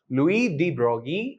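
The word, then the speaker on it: Louis de Broglie: Brogy is actually even though it is spelled D Brogley he's a French scientist Louie D Brogy and yeah he actually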